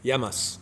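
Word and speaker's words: γεια μας: true how do you say cheers in Greek yamas yamas yamas yeah for our health ah it's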